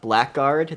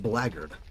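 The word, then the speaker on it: blackguard: Uh, then there's the uh black guard that can make a specific uh late game shortsord and shield. Uh, believe it or not, that is pronounced blard.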